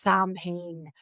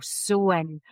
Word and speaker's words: Samhain: And forever I've thought that has been pronounced Sam Hayne. So there we go. sewing.